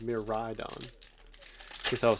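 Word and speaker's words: Miraidon: head me ride on it's not miradon meridon it's a mirror ride on guess I was saying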